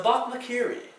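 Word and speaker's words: bokmakierie: K-I-E-R-I-E, but also because the name of this bird is actually onomatopoeic. If you look up a video of the bokmakiri, you'll find that it actually makes a call that sounds like bokmakiri.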